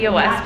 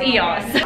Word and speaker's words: eos: And the event is for EOS, and I always used to say EOS, but I just watched a commercial and it said EOS, and I was like, oh my god, I've been saying it wrong the whole time. Yeah, and but I know now, so it's EOS.